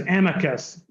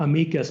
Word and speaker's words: amicus: um whose name is amicus we gave him the the Texas pronunciation not Amicus but Amicus um and his middle